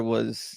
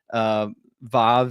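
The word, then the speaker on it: ו: a lot of times we say vav instead of wa, because it's simpler even to say it like modern Hebrew says it.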